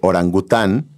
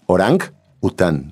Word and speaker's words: orangután: Fíjate que mientras piensa Claudio su propuesta, les puedo decir que orangután viene del idioma malayo y es orang után. Lo pronuncian como separado, orang után y significa hombre de la selva.